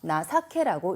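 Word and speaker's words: 情け: 정인데 뒤에 케가 있어서 나사케라고 읽습니다.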